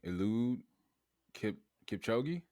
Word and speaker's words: Eliud Kipchoge: Eliud Kipchoge.